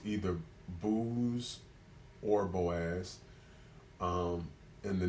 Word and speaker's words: Boaz: begot Obed of Ruth so no booze not boys booze and booze is spelled b-o-o-z it looks like it has it can be pronounced either booze or Boaz um and